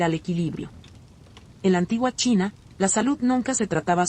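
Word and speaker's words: qi: En la antigua China la salud nunca se trataba solo de carne y hueso, sino de energía.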